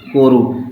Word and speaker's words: Kourou: इस इंग्लिश में कैसे लिखते हैं? KOUROU, कोरू। ठीक है, इंग्लिश में कोरू, हिंदी में कोरू बोलते हैं। ओके, तो कहाँ छोड़ा गया था? इनसैट 2E कोरू में।